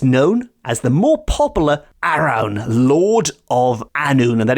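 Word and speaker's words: Arawn: this figure is known as the more popular Aron Lord of anon and that is spelled a r a w n the Lord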